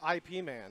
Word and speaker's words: Ip Man: okay, He said it's pronounced IP Man.